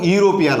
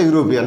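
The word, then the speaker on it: European: এখানে এন ব্যবহার করতে পারবো না কেননা এখানেও ইউরোপিয়ান আছে ই দিয়ে শুরু হয়েছে কিন্তু এখানে উচ্চারণটা ইউরোপিয়ান এখানেও আমরা দেখতে পাচ্ছি উচ্চারণটা ইউ এর মত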